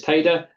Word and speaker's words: Teide: And yes, the pronunciation is TEIDE. Refers to mountain, a Spanish mountain that is also a volcano.